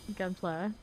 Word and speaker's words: Gunpla: I make it gun flag. It's like it's like wait, do I even know how to say this term? Gun plastic. They're not metal. They're plastic. Right. Gunpla. Okay. So, I said it right.